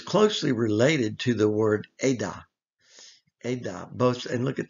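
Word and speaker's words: עד: Edah, moed, those similar letters.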